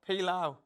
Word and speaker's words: pilau: Yeah, we had to rhyme with the word cow today. And it was pilau.